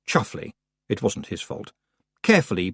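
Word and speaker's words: Chumsfanleigh: Roland Duchum's family pronounced chuffly.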